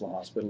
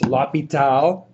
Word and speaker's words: L'Hospital: It's actually not pronounced La Hospital. If you do, I'll look at you strangely. It's Lapal, clearly by some German guy, I'm kidding, named Bob.